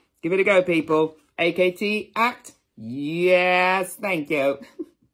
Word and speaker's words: AKT: Now, I call it AKT, but I think it's actually pronounced ACT.